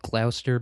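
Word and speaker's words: Gloucester: So, it's called Glouster, but it's spelled Glowchester.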